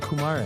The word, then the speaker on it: Kumaré: But as Kumaré, I was nobody. I was an empty vessel. - 他们叫我库马尔。 - 他杀死了牛奶。 - They call me Kumaré. - Ku-mar-lé.